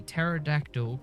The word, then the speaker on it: pterodactyl: can't you hear a pterodactyl going to the bathroom because the PE is silent that's right the p is silent have you not heard